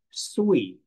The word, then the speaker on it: 岁: It's pronounced sui, sui. Sui means years old.